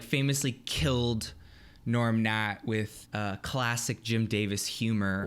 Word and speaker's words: Gnorm Gnat: lovable character known as Norm Nat. You guys have probably never seen this, but Norm Nat, like a insect. Yeah, you guys can look it up. It's Gnorm Gnat. It's spelled with G's.